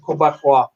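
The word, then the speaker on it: Québécois: Then I pronounced it right the first time when I said Quebecois. Quebecois. All French-like.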